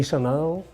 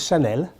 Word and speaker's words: Chanel: my help I know you say Chanel but it's Chanel from the name of